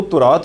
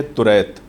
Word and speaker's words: توریت: تعالیٰ نے نازل فرمائی۔ کچھ لوگ توریت کو تورات بھی کہتے ہیں، جو کہ غلط ہے۔ صحیح تلفظ ہے توریت، اور اس کا لفظی